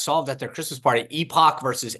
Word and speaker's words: Epoch: last year s solved at their Christmas party Epoch versus epic yeah it it is epic H you pronounced it correctly it's like Comm uh it's